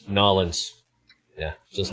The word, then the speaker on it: New Orleans: in the north when you pronounce it as new orleans because when you get down there they're going to tell you right seriously it's nollens yeah that's just how